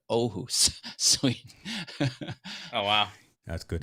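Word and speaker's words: Åhus: Aarhus, Sweden, and the A, it starts with an A with a circle over it, but it's pronounced Aarhus, Sweden.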